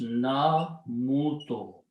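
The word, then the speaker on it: نموت: In order to make the easy pronunciation, what we do, we switch the harkat here with this one. So we bring sukoon here and sound of wow on the other one. So it becomes na muto.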